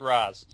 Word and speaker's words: Ra's: I'm not part of the league, I pronounce it Raz.